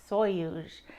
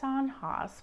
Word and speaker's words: sonhos: the Portugal collaboration I'm going to be making soyuz now when you look at the word it is s-o-n-h-o-s so I thought it was pronounced sanhas but thank goodness I looked at some videos